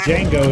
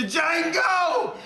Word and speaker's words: Django: The Django! You black son of a bitch! The D is silent here, baby.